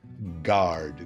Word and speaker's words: guard: Mas a pronúncia é essa mesmo. Pick guard, guard. Pick guard. Esquece o U na hora de falar a palavra.